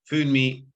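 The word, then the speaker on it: Funmi: My name is Fummi, so it's spelled F-U-N-M-I.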